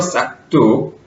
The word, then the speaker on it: 싹둑: 싹둑. 죄송합니다. 예. 싸 밑에 기역 받침 때문에 뒤에 디귿이 된소리 되는 것이 설명이 되니까, 예, 발음이 싹둑이 맞고 표기는 싹둑이 맞죠?